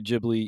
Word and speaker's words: Ghibli: a big thing, but in Japanese, they do say Jibli, even though that's not actually how the Italian word is pronounced.